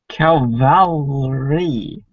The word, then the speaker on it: cavalry: Ken, don't say Calvary unless you mean Calvary. What should you say? Cavalry. Cavalry. Cavalry. Okay.